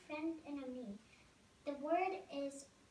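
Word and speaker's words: ami: you say friend in a me the word is how do you say friend in French the word is a me my mom says you say it like this ah me I love French everything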